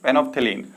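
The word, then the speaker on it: phenolphthalein: First one इज फेनोप्थेलीन, ठीक है। फेनोप्थेलीन जो है हमारा एल बी है, फेनोप्थेलीन में एल साइलेंट होता है।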